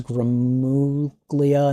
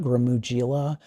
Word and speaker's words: Gramuglia: The person's last name is Gramuglia, not Gramugila. That's all right. I think I still pronounced it Gramuglia.